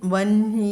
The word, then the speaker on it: വഹ്നി: അതുകൊണ്ട് അടുത്ത നാമമാണ് 233 നാമമാണ് വഹ്നി എന്നാണ് അവിടെ എഴുതിയിരിക്കുന്നതെങ്കിലും നമ്മൾ ഉച്ചാരണത്തിൽ വന്ഹി എന്നാണ് പറയുക, വന്ഹി കേട്ടോ.